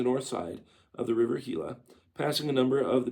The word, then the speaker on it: Gila: After resting a few days, we started for Gila or Hila. I'm sorry. I'm used to Gila monsters, so we just spelled with G. But yeah, G I L A Hila.